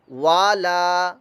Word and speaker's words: والا: وا، لام زبر لا، والا، والا. یہ غلط ہو گیا. واو کی آواز اتنی کہ وا لا، والا، بس.